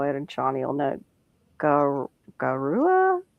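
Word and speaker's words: Gaura: Goua. It's g a u r a gar. How do you say it? Gar, I believe.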